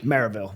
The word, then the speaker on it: Maryville: Smith Wesson, which is now in Maryville, not Marysville. Oh, yeah. They don't like that here. And it is not even Maryville, it's Maryville. Maryville.